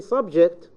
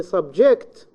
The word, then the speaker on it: subject: So once I say subject, it's in the first syllable at the beginning, and this comes out with a noun. Once I say subject, this is a verb, okay? And this is available at the second part of the word, okay?